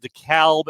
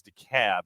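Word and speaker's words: DeKalb: they're enjoying moranic rise it is it is pronounced the calb in Illinois it is the cab here in the Atlanta area Okay biggest disappointment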